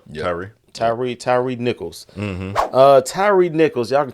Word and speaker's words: Tyre: Tyre Nichols.